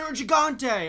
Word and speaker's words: Nergigante: Well, when I hear Matthew Mercer say, "Watch out for the Nergigante," I'm like, oh, that's how you say it.